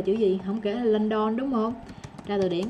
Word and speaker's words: London: Đó, bây giờ mình biết, xác định nó là ớ rồi nha. Nhưng mà nó không hoàn toàn giống chữ ớ trong tiếng Việt đâu. Nó là ơ, nó vẫn là tiếng Anh á. Giờ mình vẫn phải nghe lại, mình làm cho nó sang lên. Đó, biết là ớ, xác định trong đầu nó là chữ ớ nha, chứ không phải u o ơ gì nữa nha.